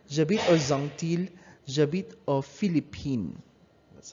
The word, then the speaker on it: Philippines: Now, included Philippines here. You say J'habite aux Philippines. You pronounce it as Philippine without an S.